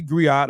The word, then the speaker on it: griot: are in right so a gri right a griot is a unique western African uh W unique